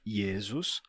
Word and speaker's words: Jesus: foneticamente para ficar assim em alemão temos yesus e yesus escrito assim como em português mas pronunciado yesus e em alemão o J representa esse som de ye yesus em holandês temos